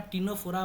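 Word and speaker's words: Ctenophora: यहां पे फिर सी साइलेंट होता है। यहां फिर क्या टी साइलेंट? यहां टीनोफोरा बोला जाता है।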